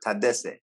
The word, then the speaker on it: Tadesse: Yeah, Tedesse. Yeah, Tedesse. Okay. is good. is good. Yeah, but the quick way. I like to Tedesse.